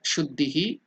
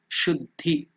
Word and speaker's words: Shuddhi: Mantra Shuddhihi, purification of the mantra.